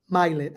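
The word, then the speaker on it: Mylett: of One War by Ed mylet I think is how you pronounce his last name m-y-l-e-t-t and I love that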